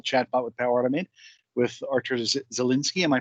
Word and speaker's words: Artur Zielinski: interactive, and meaningful chatbot with Power Automate with Artur Zielinski. Am I pronouncing that correct?